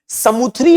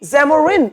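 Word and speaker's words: Samoothiri: समुत्री इसका original name है। लेकिन जब यूरोपवासी इसका नाम बोलते थे तो क्या बोलते थे? सेमुथ्री सेमोरी जमोरिन आया आया आया। बेचारे समुत्री का प्रोनाउंसिएशन खुद नहीं कर पा रहे थे। तो जमुरिन कर दिया।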